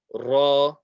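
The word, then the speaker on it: ر: Ra, not a heavy letter, but we will read it as so. So we won't say ra, we will say ra, and it's a vibration of the tongue.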